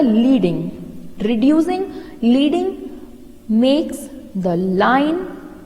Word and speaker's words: leading: When line spacing is measured in points, it is referred to as leading, a pronounced leading. Okay, it will pronounced as a leading.